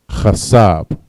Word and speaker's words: chasab: Think is chasab. Chasab. Cha, sa, and ba. Chasab. All right, the next word we have up is thirst.